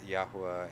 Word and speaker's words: Yahuwah: Trust me, I still am going to pronounce Yahuwah and Yahusha. In all my studies, this is the pronunciations I have found.